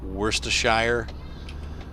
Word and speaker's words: Worcestershire: Like, they have a city like, it's like Worcestershire, and they pronounce it Worcester.